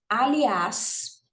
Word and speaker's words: aliás: Aliás é uma palavra oxítona terminada em as. É uma oxítona terminada em as, pessoal? É, né, gente? Aliás, né? A sílaba tônica é esse as que está no final, então ela é oxítona e termina em as, né?